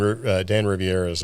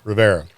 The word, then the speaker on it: Rivera: So evidently the haunted relic was absent from Dan Riviera's, is it Riviera or Rivers? Am I saying it wrong? Rivera.